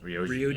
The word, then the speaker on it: Ryoji: Ryoji? Ryoji.